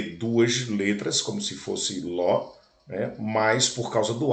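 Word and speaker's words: לא: Lembrando que no hebraico se escreve da direita para a esquerda e o aleph não tem som nenhum. Então, são compostos, você lê duas letras como se fosse ló, né?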